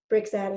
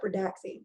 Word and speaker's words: Brixadi: Brixadi. I want to call it Bridaxi. It's not what it is.